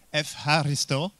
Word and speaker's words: Ευχαριστώ: Ευχαριστώ. So can we do it all together? Maybe with the right pronunciation.